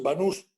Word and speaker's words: Banús: Mi apellido es Banús, con acento en la S, en la U.